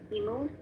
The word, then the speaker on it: Immu: Rita, are you good with exchanging questions with Immu? Or how do you pronounce your name? It's correct what you pronounce. Immu. Oh, okay, I'll call you Immu then.